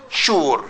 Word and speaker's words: sure: Sh sugar and Sh the only two words that have is you and we pronounce it sha sugar and sure like Insurance sure the same sure yes but is you